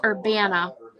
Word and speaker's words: Urbana: downtown um or Vienna I have to keep thinking about how to say it it's Urbana Urbana Ohio there's a little